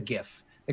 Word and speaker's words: GIF: done well for example is it a Jif versus a gif the creator says jiff the creator is wrong it is a gift so there we go